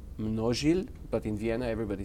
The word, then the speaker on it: Mnozil: pub called not sealed which is actually a Czech name actually it's pronounced no shield but in Vienna everybody says no till Americans say novel and manat Seoul brass